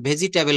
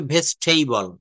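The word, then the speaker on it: vegetable: কিন্তু এখান থেকে যারা আমেরিকায় থেকে ক্লাস করছেন এই ক্লাসে যারা প্রবাসী রয়েছেন দেখবেন বাহিরের ডেভেলপড কান্ট্রিতে কখনো কিন্তু ভেজিটেবল বলে না এটার সঠিক উচ্চারণটা হবে ভেস্টেবল ভেসটেবল ভেসটেইবল মনে রাখবেন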